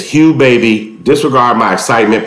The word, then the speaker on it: Hugh Baby: birthday we went to hog baby look guys little disclaimer I was so excited this video I pronounced the name wrong it is called Hugh babies all right so look it's Hugh baby disregard my excitement pronouncing